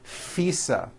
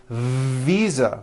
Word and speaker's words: visa: just received her international fisa correct no I said fisa with an unvoiced F I should have said visa with a voiced v living I am living